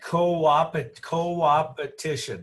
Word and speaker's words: coopetition: And you call it coopetition.